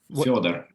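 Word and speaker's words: Фёдор: Am I saying that right, by the way? Fedor? Is that how you say it? Fyodor. Fyodor. Yes, exactly.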